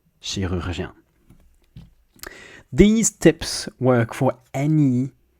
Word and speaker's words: chirurgien: you break it down, you first get able to say each syllable on its own. Jien, jien, jien, rur, rur, rur, she, and then combine just two, not all of them. Chirurg, chirurg, chirurg, chirurg, chirurg, and then rurgien, rurgien, rurgien, rurgien, chirurgien.